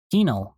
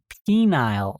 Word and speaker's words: penal: I mispronounced penal colony as phenile colony.